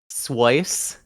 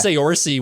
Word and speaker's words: Saoirse: What are some of the funniest pronunciations you've ever heard of your name? Has it like Okay, um, Swice is one. what? I was Oh thinking like yeah, Saoirse.